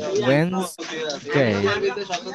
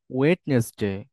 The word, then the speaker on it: Wednesday: এখানে এই যে ডিটা বাদ যাবে, ঠিক আছে, ডি এবং এন, ওয়েন্সডে। আমরা অনেক সময় এই দুইটা উচ্চারণ না আমরা ভুল করি, Wednesday, আমরা অনেক সময় এটা উচ্চারণ ভুল করি, আমরা বলি হচ্ছে ওয়েডনেসডে।